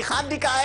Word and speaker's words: hándicap: Mi hándicap es que no se pronuncia la H.